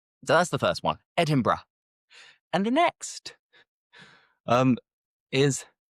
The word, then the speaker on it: Edinburgh: And the first one many people they say Edinburg Edinburg but that is incorrect. We never say Edinburg. The correct pronunciation think bruh is Edinburgh.